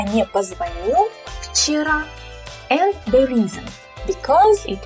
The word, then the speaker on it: вчера: The word вчера. You will say it with an F at the beginning, kind of like this.